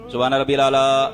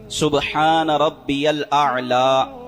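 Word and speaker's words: سبحان ربي الأعلى: पढ़ना है तीन मर्तबा सुभान रब आला ऐसे पढ़ते हैं लोग ऐसे नहीं पढ़ना सुभान रब्बल आला सुभान रब आला ऐन और ऐ अलिफ और ऐन वाजे फर्क हो सुभान रब आला तीन मर्तबा पहले सजदे में पढ़नी है।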